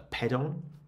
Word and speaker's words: pedon: And that is a pedon, rhymes with hedon, if you want to remember how to pronounce it.